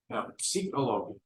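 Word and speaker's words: פסיכולוגיה: And I said, well, in Hebrew you do pronounce the P, psychologia.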